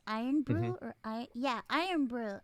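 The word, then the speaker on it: Irn-Bru: my puerto ricanness they we pronounce it eaton bean but it's iron brew or i yeah iron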